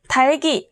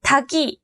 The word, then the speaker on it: 닭이: 10명 중 9명이 잘못 발음하고 있는 굵직한, 밟고, 달기 꼭 기억하세요. 굵직한 아니고 굵직한, 밟고 아니고 밟고, 닭이 아니고 달기.